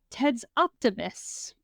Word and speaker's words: tidsoptimist: And today's word is, I wrote it out so that I could say it phonetically. Ted's optimist. Not like an eye doctor.